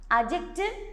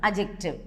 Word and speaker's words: adjective: Adjective, children, here D is a silent form, you are not supposed to pronounce it, adjective.